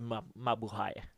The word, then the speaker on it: mabuhay: And it's spelled mabuhay. Mabuhay. Yes, but you say it mabuhay.